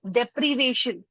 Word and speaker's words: deprivation: काम कर रहे थे, वो उसका सही प्रोनाउंसिएशन इज डेप्रीवेशन, डेप्रीवेशन।